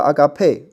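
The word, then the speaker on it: ἀγάπη: 继续来背哈，这个大家应该都知道了，agape 啊，agape 哈，agape 是这个爱，对不对？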